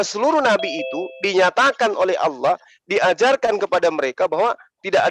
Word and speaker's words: Allah: Jadi kata Allah dalam bahasa Indonesia, A, L, L, A, H, itu rujukan dari alif, lam, ha. Allah. Dengan tanda tasdid, maka dia dibaca tebal.